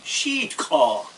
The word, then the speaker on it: Sitka: And the Indians actually, they pronounce it Sheetka. We made Sitka out of it.